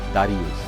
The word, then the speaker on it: দারিউস: পাশ্চাত্যের উচ্চারণে দারায় ভূষের নাম হয়ে যায় দারিউস।